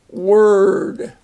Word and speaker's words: word: kind of a bird w-o-r says were and so it doesn't have the or sound but it's the ER sound so we have word take my word for